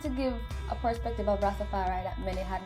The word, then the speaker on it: Rastafari: It's really not Rastafarianism. Tell it's me. just Rastafari.